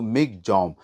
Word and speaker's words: Michaung: क्योंकि उसका अगर हम उसकी स्पेलिंग देखें तो मिंग था लेकिन उसे प्रोनाउंस किया जा रहा था अगर हम म्यानमार की भाषा में देखें तो मिक जम और इसे नाम म्यानमार